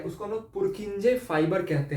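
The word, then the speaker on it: Purkinje: और पुरकिंजे, स्पेलिंग में भी गलत हो पर पुरकिंजे ही बोला जाता है।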